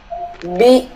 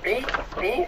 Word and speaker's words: Wie: ¿Wie ist Kolumbien? Okay. Trata de pronunciar la W, no vi, sino ¿Wie ist Kolumbien?